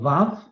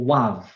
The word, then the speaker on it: vav: So when you're looking at wa can be pronounced wa or va, which is why it's called vav in some of the old alphabets, or wav. So it's a V or a W, depending on what precedes it.